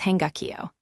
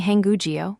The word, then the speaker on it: 한국어: The second word is hangukyo. The second block ends in a K bacham, and the third block starts with the silent circle, so the K slides over, giving hangugyo, meaning the Korean language.